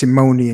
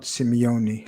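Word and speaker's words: Simone: me and thank you it's simoni and zaki not simeone like diego apologies i told you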